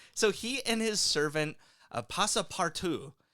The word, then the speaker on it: Passepartout: So, so he and his servant, Passepartout, and yes, it's pronounced that way because Verne thought he was being clever.